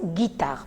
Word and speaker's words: guitare: Par exemple, une guitare. Vous voyez, nous avons un G avec I et on prononce guitare. Alors, pour ne pas tomber dans ce problème et dire guitare, je dis une guitare. Pourquoi? Parce que j'ai intercalé un U entre G et I et comme ça,